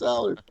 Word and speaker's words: Allard: And Jay, of course, is on the email, and he's like, Jay, is it Allard or is it Allard? And he's like, no, it's Allard. It's Allard.